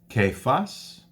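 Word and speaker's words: Caiaphas: so these six appearances kaif us it's pronounced Kaif us the 12500 brethren James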